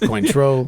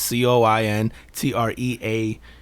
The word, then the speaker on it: Cointreau: Yep, it's probably not pronounced Cointreau. Cointreau, I don't know what it is. I really don't know, man. It's spelled like coin, right? C-O-I-N? Yeah, it's like coin, and then it is French.